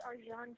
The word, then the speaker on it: Arcan: His name is Arjan Chetin, and he's from Turkey, so it's a little strange name, but it's spelled Arcan.